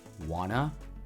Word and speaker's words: wanna: Some other examples include wanna, gotta, gimme, gotcha, and don't know. So wanna is short for want to.